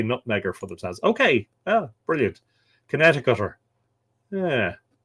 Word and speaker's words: Connecticut: Connecticuter. Yeah. It's funny how things are pronounced, isn't it? When you read it, you go Connecticut, but it's Connecticut.